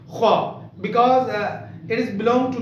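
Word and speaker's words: خ: With full mouth we should pronunciate kha because it is belong to the Huruf Mustaliyah.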